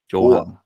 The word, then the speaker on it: Johan: So in Sweden we have like a letter called Å, so it's like an A with a circle over it, and we just pronounce it Å. Johan.